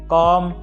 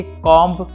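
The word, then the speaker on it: comb: अगर किन्हीं वाक्य के अंत में बी आए और उससे ठीक पहले एम आए तो यहाँ पे बी साइलेंट हो जाता है।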